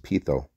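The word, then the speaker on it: πείθω: It's pronounced pitho.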